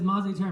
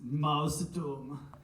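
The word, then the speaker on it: Mausturm: Up next is Mozzie Term. Everyone put your hands together for Mozzie Term. Also, correct me if I'm mispronouncing. Yes, you are. It's Mouse Doom.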